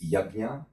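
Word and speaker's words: यज्ञ: And then, demystify, is it Yajna, Yajna, or Yagya? We are actually, we put here that the correct pronunciation is Yajna, but this is all influence of Neo-Indo-Aryan languages into the Sanskrit language.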